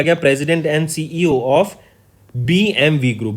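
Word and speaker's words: BMW: Next, name the person जिनको appoint किया गया president and सीईओ ऑफ बीएमवी group, बीएमडब्ल्यू नहीं बोलते हैं स्टूडेंट्स, इसको बीएमवी प्रोनाउंस करते हैं, राइट। लिखा बीएमडब्ल्यू जाता है बट इट इज बीएमवी, करेक्ट।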